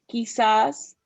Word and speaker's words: quizás: Q is Q, so it has like a K sound, like quizás.